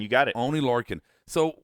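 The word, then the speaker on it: Oney Lorcan: Oni Lurin. You got it. Oni Lurin.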